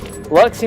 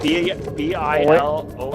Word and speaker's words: Biloxi: Like B-I-L-O-X-I. We call it Biloxi. Yeah. Well, you say it like Biloxi, like there's a U in there.